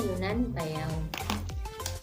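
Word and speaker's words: Yunnan Baiyao: Kalau yang ini Yunnan Bayau, tapi dua-duanya bacanya Yunnan Payau.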